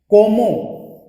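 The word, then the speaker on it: comment: कोमो, ईएनटी read नहीं होगा vowel का।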